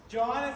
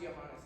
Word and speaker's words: Johannes: he would be visited it's actually pronounced johanes it's not joh language Sound by a